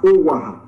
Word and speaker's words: Owaha: But by reason of the various dialects that is spoken in Esan language, it can be pronounced as Owaha or Ugboha.